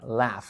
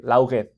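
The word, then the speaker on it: laugh: acuérdense que se pronuncia la como L A F la No importa que haya una G y una H Así es como se escribe okay Entonces no vamos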